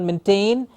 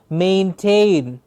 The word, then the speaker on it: maintained: state maintained please remember the pronunciation of this word is not maintained its admin its main and tain twice the a sound maintained you see we are